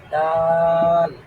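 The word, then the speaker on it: دال: তো যেইটার উপরে নুক্তা নাই ওটাকে বলা হয় দাল বলেন দাল দাল দাল দাল দাল দাল দালের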